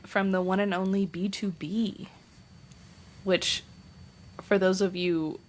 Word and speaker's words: BTOB: Um from the one and only B2B. Which for those of you who are unaware of how it's pronounced, that's the BTOB. It's B2B.